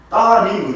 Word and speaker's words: 따님: 우리나라 그 한글 문법상 앞에 니을이 있고 그 다음에 니은이 나오면 앞에 니을은 발음하지 않습니다. 예를 들면 우리가 딸을 높여서 부를 때는 딸님 그래요. 니을을 빼고 따님 그래요. 따님 그러잖아요.